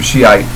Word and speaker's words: Shiite: In Arabic, it's Shia. They're fully called Shiat Ali, the partisans of Ali, and it's like shorthand. And then Shiite is a kind of anglicized English way of saying it.